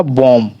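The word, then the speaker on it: bomb: अगला हमारा बॉम, बी का उच्चारण नहीं कर रहे हैं, बॉम, लेकिन स्पेलिंग में बी आता है।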